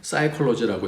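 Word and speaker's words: psychology: 근데 P자가 묵음이 되면서 사이콜로지라고 읽고요. 영어로서는. 근데 이 그리스어는 P자를 읽어요. 그래서 푸시케 그렇게 읽습니다.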